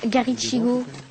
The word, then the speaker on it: Garichigo: un truc comme ça garichigo garichigo ça il y a pas il y a pas de de TH c'est ch garichigo comme ça se prononce ou garigo alors pour